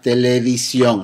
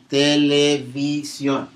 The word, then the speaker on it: televisión: V in Spanish, we commonly only pronounce it just like B. Televisión. It doesn't matter. We don't go out of our way to make it sound like V like we do in English.